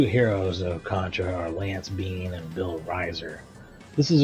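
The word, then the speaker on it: Biehn: That would be Lance Hendrickson, Michael Bean. His last name is spelled B I E Hn, but it's similar. Uh, pronounced the same.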